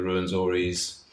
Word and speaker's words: Rwenzoris: So yeah, it's a difficult word to pronounce when people look at it, and then it starts R-W-E-N. Some people struggle to pronounce it, but it's you start with Ru, as in kangaroo. So I guess you get in very.